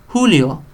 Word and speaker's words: Julio: J, and it sounds like an H. So I don't know what the thinking was behind that. But Julio, lejos.